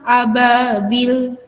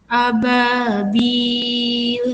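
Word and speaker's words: أبابيل: Panjang bacaannya adalah 6 harokat. Tidak boleh kurang. Ababil, salah. Ababil, salah. Kurang panjang. 6 harokat. Ababil, seperti itu.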